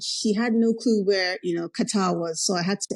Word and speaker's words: Qatar: How long have you been out in Qatar? So I've been here for 2 years. I love that you pronounce it correctly. It's Qatar, but I say Qatar.